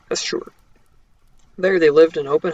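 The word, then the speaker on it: Asshur: of Asher there the I shouldn't say Asher because there's another guy named Asher that's spelled differently asure I should say asure there they lived in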